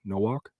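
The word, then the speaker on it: Nowak: I wanted to say no walk he said everyone SL my last name pronounced no walk no walk okay no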